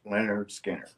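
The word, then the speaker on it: Lynyrd Skynyrd: he was looking at leonard skinner pronounced leonard skinner okay so uh during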